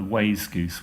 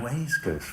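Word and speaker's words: wayzgoose: healthy and you know we've got a A Way Goose which is a way Goose another new word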